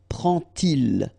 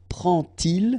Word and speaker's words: prend-il: to show you that you won't pronounce it like d to make the liaison, but you will pronounce it like t. And so you will get prend-il, okay?